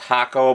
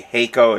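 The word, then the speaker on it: Hakko: They are both Chinese clones of, I think it's pronounced Hako, but it might be Heiko. It's H-A-K-K-O. I believe it's a Japanese company, but anyway, it's a clone of their 8786D.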